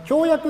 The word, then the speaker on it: 共役: としましてあの協約の読み方ですねえっとこれあの役っていう役所の役だから駅っていう読み方もあるんですけどけど驚というのは誤りです注意してください